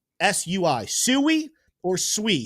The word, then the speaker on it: Sui: You guys told us you want us to pronounce it sooie.